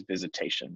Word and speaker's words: Visitation: Is it Visitation? Am I saying that? Yeah, it's kind of spelled like Visitación, Oh, because it has a original Spanish name, but it is Visitation, at least how it's pronounced now.